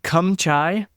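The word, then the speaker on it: cơm cháy: cuz I would say it wrong it's called kumchai but it's again CH h a y but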